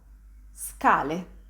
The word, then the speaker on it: scale: I'm just pronouncing S and then attaching ka. Ska. For example, as in the word scale.